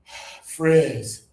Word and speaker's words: frizz: This one is frizz.